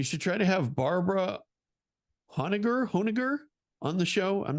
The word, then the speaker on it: Honegger: But anyhow, you should try to have Barbara Honegger on the show. I'm not sure how to pronounce it. I'm so bad with names, Sean. Yeah. It's Honneger on the show.